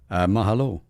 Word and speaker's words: mahalo: Mahalo. And aloha, Onnie. Mahalo. Good to have you here, and you did get it right. It sounded good too. Mahalo. Sounded very good. You emphasize the second syllable.